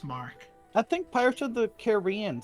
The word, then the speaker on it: Marque: it letter of Mark I think it's Marquee it's m r m a r q u e this might be an English British pronunciation you need another e in there to be Marque e oh okay well then it's Mark I think pirate should